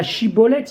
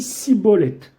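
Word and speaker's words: שיבולת: Ou bien un autre exemple, la Shibolette, il dit Sibolette.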